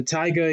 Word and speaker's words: taiga: Now, there is the taiga. Yes, it is pronounced taiga like the rapper, and no, it is not Rack City.